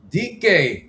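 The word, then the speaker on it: Dike: Uh 46th in catch percentage behind Chamira DK rhymes with bike.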